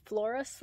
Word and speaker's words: Floras Lake: love this place this flores lake which is really hard when you spell it it looks like flora's so it's really hard to say flores flores lake um boyce cope